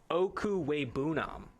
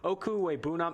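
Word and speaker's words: Okwuegbunam: That's what they call him on campus, but I'm going to go ahead and pronounce this name here. Okuwebunam. I looked up the pronunciation right before here, but Okuwebunam, Albert Okuwebunam, number 5 tight end on the board.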